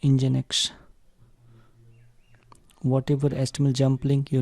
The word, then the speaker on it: NGINX: this Browser Support Benefits NGINX (Pronounced as Engine-X) whatever HTML Jump Links